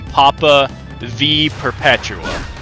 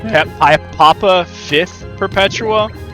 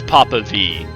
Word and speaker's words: Papa V Perpetua: So he's the fifth, and he actually took the name Papa V Perpetua, and that is how you pronounce it. Like, I thought it would be Papa Fifth Perpetua, but it's Papa V.